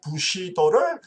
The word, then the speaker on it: 부시도: 할 때를 판단하는이 사무라의 정신 무사도 일본 발음으로 부시도를 중시했습니다 칼을 꺼낼 때보다도